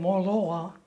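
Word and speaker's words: Moloaa: I was born in Moloa, North Shore in Kauai. Could you spell it?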